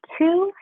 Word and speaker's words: two: how it's spelled - but it sounds like ooh ooh - but it's so TW o when you're referring to